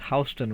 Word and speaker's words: Houston: Okay, now that we have arrived in Houston, Delaware, the locals tell me that Houston is pronounced Houston around here.